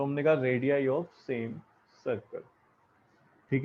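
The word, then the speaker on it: radii: रेडियस है तो हम लिखेंगे रेडियाई of same circle, same circle. ठीक है, प्लूरल जो रेडियस का होता है उसको हम रेडियाई बोलते हैं, स्पेलिंग ये होती है।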